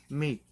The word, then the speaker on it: mic: fitting for a dove but in romanian the word meat means tiny it's spelled mic and so that's what